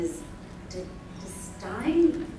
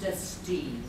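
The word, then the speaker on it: Destine: our board of directors and isin but it's pronounced dtin Dominique dine and you'll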